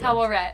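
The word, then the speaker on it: Taweret: That's like Tawaret. That's how you pronounce it.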